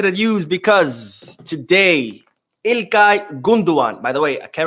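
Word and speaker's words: Gündoğan: news because today ilkai gunduan by the way I can't remember who but someone mentioned on the video yesterday that it's actually pronounced gundogan because the g is silent in Turkish the G with the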